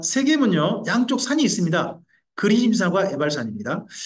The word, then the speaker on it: 세겜: 세겜으로 올라가는 것까지 해가지고 중부전쟁이 됩니다. 자, 세겜은요, 양쪽 산이 있습니다.